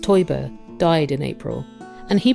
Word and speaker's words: Teuber: There’s recently been some sad news in the Catan family: its creator Klaus Teuber (pronounced Toy-Burr) died in April.